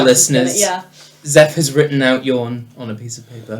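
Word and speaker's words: Jån: no a gnome called a name called yawn okay but spelled like jan sure yawn it's j and then the a with a little circle yeah yeah um okay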